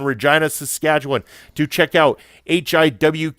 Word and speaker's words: Regina: Friday, April 27th, to the city that rhymes with fun, Regina, Saskatchewan, to check out HIW Canada's Spring Meltdown.